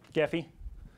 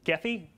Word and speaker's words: Gephi: uh large data sets gaffy um and gethy g-e-p-h i think it's actually pronounced ajifi because it's french which i find really